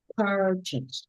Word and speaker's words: purchase: it's not purchase. Purchase. Yes, Purchase. yes, purchase. Purchase. No, not just, not chase. Just. Purchase. Yes, that's it.